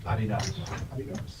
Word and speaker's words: Adidas: Yeah, the correct way to pronounce it? Adidas. It's the name of the guy.